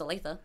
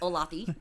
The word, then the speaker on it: Olathe: i thought i didn't know how to uh pronounce olathe i thought it was olafy right so so that